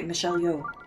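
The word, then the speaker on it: Michelle Yeoh: By the way, Michelle Yo's name is pronounced like Yo. Okay, Michelle Yo.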